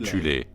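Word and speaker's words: Thule: société secrète occulte appelée la société de tulle parfois prononcée alternativement tu les composés de soustraction en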